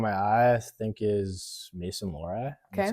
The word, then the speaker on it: Lohrei: Player that's caught my eye, I think, is Mason Lohrei.